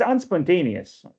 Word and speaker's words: unspontaneous: That third syllable is accented.